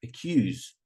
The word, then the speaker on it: accuse: in the list all of them except four are stressed on the second syllable like accuse accuse so will be um